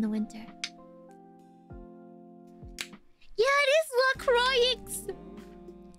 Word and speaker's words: LaCroix: bundled up in the winter yeah it is la croix it's lacroix how did you know i got